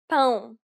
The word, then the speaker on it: pão: It is similar to the ow sound in English, but with nasality. Saying the word pound repeatedly may sometimes help with pronouncing this sound.